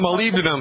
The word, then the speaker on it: molybdenum: Yeah, molybdenum.